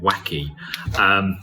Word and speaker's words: wacke: So it's an interactive quiz, and it's gneiss, tuff and a bit wacke. It's usually pronounced wack, but a gneiss, a tuff and a wacke are all different types of rock.